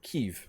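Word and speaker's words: Kyiv: ukraine you could see kiev right there in the middle or kiev as it is correctly pronounced in ukrainian poland's in there all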